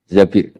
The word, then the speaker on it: Zabir: Zabir di di hadis ini bukan bacanya bukan Zubair tapi Zabir Abdurrahman Bin Zabir tapi